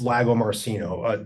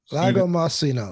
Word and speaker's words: Lagomarsino: it I'd say 99.9% correct okay so it's Lago marcino my name okay Lago marcino okay I thought I was halfway right okay